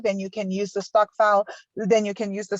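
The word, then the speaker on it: stokvel: and south africa then you can use the stock file then you can use the stockpiler app to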